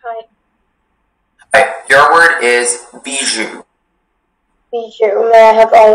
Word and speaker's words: bijou: Hi, your word is bijou. Bijou, may I have all of the information? Bijou is the only pronunciation.